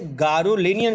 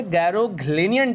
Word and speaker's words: Garoghlanian: मैं आपको यहाँ लिख दे रहा हूँ, GAROGHLANIAN। देखिएगा, आपको लगेगा ये गैरोग्लेनियन टाइप का है, बट ऐसा नहीं है। ये GARO को गारो पढ़िएगा, GH साइलेंट होगा, जैसे नाइट में, जैसे NIGHT में आपका साइलेंट होता है GH, वैसे यहाँ पे होगा साइलेंट।